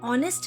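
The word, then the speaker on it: honest: उदाहरण के लिए एन ऑनेस्ट मैन, इस उदाहरण में ऑनेस्ट लिखते वक्त एच से स्पेलिंग शुरू होती है, लेकिन बोलते वक्त ऑनेस्ट बोलते हैं, जिसमें पहली आवाज ओ होती है जो कि एक वॉवल साउंड है।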